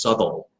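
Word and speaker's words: Southwell: century I'm sorry my last name is south well to most people but the original old British pronunciation I only had one person get this right in my entire life it was my shakespeare professor at ASU dr. Keith Patel he's a great guy love him to death it's actually pronounced subtle according to the Brits we're here in the south so it's south well sure district 34 well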